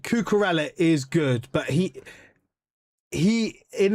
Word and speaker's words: Cucurella: You are saying his name wrong. It's C-U-C-U Reyes. Say it like that. Cucurella.